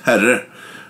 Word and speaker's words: Herre: It's a small village, and the name of it is Herre. That's spelled H-E-R-R-E.